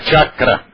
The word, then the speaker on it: chakra: mulher do Agno aqui é Agna á á chakra eigual agora para o CH e sh chakra